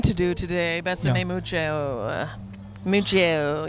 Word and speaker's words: mucho: Mucho. You got to say it like that.